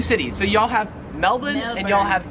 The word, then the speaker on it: Melbourne: Karen's it wouldn't matter because the Australian accent just leaves the r off if it's ever in the last syllable of a word so you would pronounce